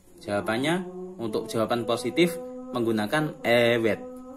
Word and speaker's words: evet: Jawabannya untuk jawaban positif menggunakan evet. V ini tidak dibaca V tapi dibacanya W. Evet.